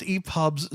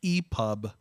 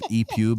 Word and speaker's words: EPUB: My pronunciation of ePube as ePube clearly provided more entertainment for the Irvin Army and Jane Jordan than the correct version ever could.